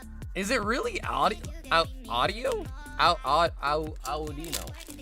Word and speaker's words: Audino: I recently learned that Audino is pronounced audio. really with an iron in there.